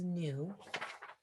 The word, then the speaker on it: nu: lambda times its speed nu looks like a v but remember that is new is going to be